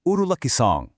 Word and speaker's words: ഉരുളക്കിഴങ്ങ്: In Malayalam, we say urulakkizhang.